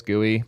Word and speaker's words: GUI: I sometimes pronounce GUI as gooey, but yeah, I mostly just say GUI.